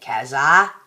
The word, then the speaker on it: Kazza: You've got to say it like that with an Aussie accent. Kazza.